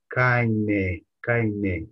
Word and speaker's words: keine: Is kaine. There's E at the end. Pronounce the E.